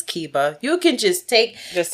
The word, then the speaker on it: Keba: it in class every wrong variation of my name said to my face multiple times and it's like you know it's Kiba you can just take